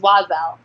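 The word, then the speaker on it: Oiselle: that's okay I I never knew how to pronounce it either but it's wazzle okay I'm like obsessed with the clothing that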